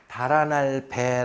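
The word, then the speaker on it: 北: 이렇게 등을 지고 놓아요 그래서 이걸 자는 해석을 읽을 때 배 라고 읽어야 되는 거예요 그래서 죽은 사람이 머리를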